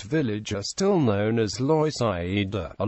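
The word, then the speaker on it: Loisaida: are still known as Lo a Latino pronunciation of Lower East Side Side Avenue C is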